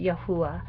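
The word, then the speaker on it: Yahuah: y h w h i spell it y a h u a h and pronounce it yahuwah it means i am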